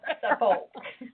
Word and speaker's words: Suffolk: It's spelled Suffolk, but they pronounce it Oh, Suffolk. okay. It's the peanut capital. Yes. Mr. Peanut. Mm-hmm. But Yeah, those of us who me. are from here would call it Suffolk.